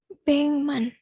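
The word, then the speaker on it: 백만: 1 juta bengman. Tulisannya Beckman, tapi dibacanya Bengman.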